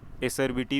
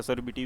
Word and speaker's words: acerbity: एसर्बिटी भी बोलते हैं, असर्बिटी भी बोलते हैं, जैसा जैसा प्रोनाउंसिएट करें वैसे एसर्बिटी है।